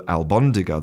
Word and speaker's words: albóndiga: So, instead of being albóndiga a l b, it becomes almóndiga a l m.